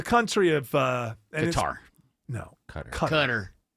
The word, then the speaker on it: Qatar: Cutter. It is pronounced cutter. Just like what people who try to be smart say cons is actually cans. Qatar, the country of Qatar.